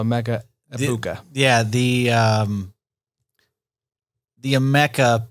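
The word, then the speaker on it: Emeka Egbuka: Apparently the G is silent. Gotcha. So Amecha Ibuka.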